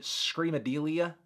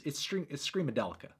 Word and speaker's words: Screamadelica: I keep thinking it's like Screamadelia, but it's Screamadelica.